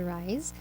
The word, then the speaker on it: WRYS: NGO is called RISE, WRYS, pronounced as RISE.